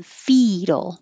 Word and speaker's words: fetal: which is different than fetal which has the e sound which is also in lethal lethal has a th